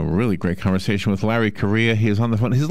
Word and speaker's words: Correia: great conversation with larry korea he's on the phone his last name by the way is spelled it's pronounced like the country spelled c-o-r-r-e-i-a if you're